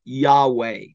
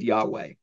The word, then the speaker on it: Yahweh: Genesis 2:4 and it we think it's pronounced Yahweh we're not sure because the Jews would